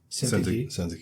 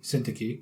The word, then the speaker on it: Syntyche: Euodia and Syntyche. Syntyche. Yeah. We didn't have to look up how to pronounce that.